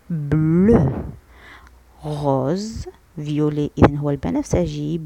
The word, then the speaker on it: bleu: bleu EU ينطق E. bleu.